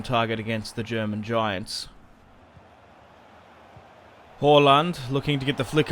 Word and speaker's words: Haaland: Now, it's actually pronounced Haaland, like Hall. When you'd look at that type of name, you'd be like Haaland or Haaland. It's a Hall, like an English Hall, which is interesting.